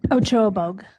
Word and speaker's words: Ochoa Bogue: And also to Senator, how do you pronounce her last name? Ochoa Bogue. Ochoa Bo for joining with us to potentially sponsor this.